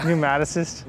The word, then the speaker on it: pneumatocyst: Pneumatocyst? Yeah. How do you pronounce it?